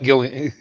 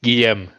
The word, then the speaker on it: Guillaume: In English, you pronounce it Gilliam. It's not Gilliam. Guillaume.